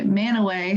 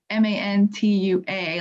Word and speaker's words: Mantua: historical society which is spelled m-a-n-t-u-a like mantua um and they say that it's named after a city in italy but i think they actually pronounce it in italy mantua i could be wrong about that but it's really just a local thing that only the locals really know that it's pronounced man away and you almost feel